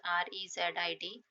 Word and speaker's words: reside: Reside, reside, the pronunciation is rezid.